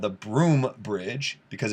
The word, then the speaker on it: Broome: um it's called the broome bridge because it's in ireland it's spelled all weird it's like b-r-o-u-g i don't know something something weird but it's pronounced the broom bridge and that's this guy